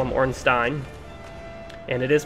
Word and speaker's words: Ornstein: the community calls him orstein but if that's a German derivative it is pronounced Stein so I call him orstein and it is pronounced